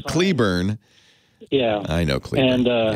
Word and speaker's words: Cleburne: of Fort Worth um oh I mispronounced it I'm sorry I said kled burn I'm so sorry Cleburne yeah I know and